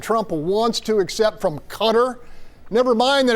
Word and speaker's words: Qatar: My issue is u you know the media just can't pronounceq cutter orqatar. What is it? That's true. It's cutter. It's cutter.